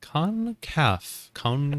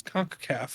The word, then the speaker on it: CONCACAF: And it's gonna start with me trying to pronounce CONCACAF. Concavity. Concaf. I love that I said it so confidently with CONCACAF. I was like, yeah, that's it. And then Danny's just like, actually, it's CONCACAF.